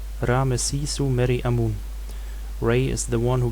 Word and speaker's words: Amun: pronunciation should usually be Imen. But Egyptologists tend to use the name Amun as it is attested in Coptic.